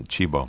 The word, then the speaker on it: Cibo: Yeah, that's Chibo. My wife's Italian. Chibo, it's amazing.